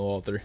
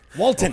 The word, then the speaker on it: Wolter: No, I'm Wolter. Wolter. Yes, sir. Walton. Okay. Walton. Walton. How do you spell that?